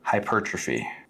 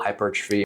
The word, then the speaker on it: hypertrophy: Some people will pronounce it hypertrophy. These people are incorrect. Do not pronounce it hypertrophy, it's hypertrophy. I'm nitpicky about this.